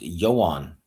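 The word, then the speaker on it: Ioan: It's pronounced Johan. Okay, Johan Griffith. Okay. Yeah. Almost Johan, but Johan. Yeah. Yeah. Johan.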